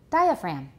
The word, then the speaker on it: diaphragm: class what is it diaphragm right we don't pronounce the g you can see this